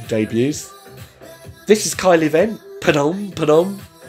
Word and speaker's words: Padam Padam: Padam Padam, or even Padam Padam. Think of someone telling a bad joke. Padam. It's Kylie. Padam Padam.